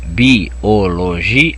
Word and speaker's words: biologia: Ela é uma palavra, ó, biologia. A tonicidade está no G. É a segunda sílaba de trás para frente. É uma palavra paroxítona.